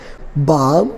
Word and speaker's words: balm: This is A, this is M, and L is silent here. For example, calm, C-A-L-M, balm, B-A-L-M, and third one is palm, P-A-L-M. So L is silent again here.